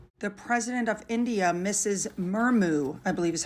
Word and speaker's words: Murmu: Murmu, I believe is how you say her name, was seen at Westminster Hall as well.